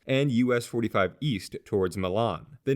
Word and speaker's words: Milan: The city's name is actually pronounced Milan and originated in the 1850s when a Louisville and Nashville railroad surveyor asked landowner Beverly A.